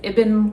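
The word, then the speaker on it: Ibn: let me know that you pronounce it ibben like rhymes with ribbon um has a lot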